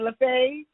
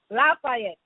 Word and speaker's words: Lafayette: young women task force of Greater I probably pronounced that wrong is it laf Lafayette Lafayette thank you so much and in this position